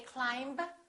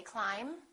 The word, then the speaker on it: climb: very common words that a lot of students mispronounce let's start with the silent B bomb climb we don't say climb we say climb debt don't say debt say debt subtle and